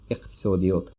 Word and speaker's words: иқтисодиёт: Economics, иқтисодиёт. And if it's hard for you to pronounce that, you can just pronounce first two letters first, like iq, and then tisodiyot. Iqtisodiyot.